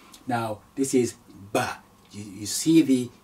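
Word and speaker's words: باء: Now, the next is Ba. Ba is also very simple to pronounce. Ba, simple B, Ba.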